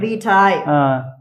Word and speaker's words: vitae: வீட்டாய்.